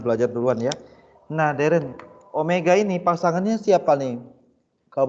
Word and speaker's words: Omega: tachaya besok ada nih bacanya w bukan W bacanya Omega artinya disini kecepatan sudut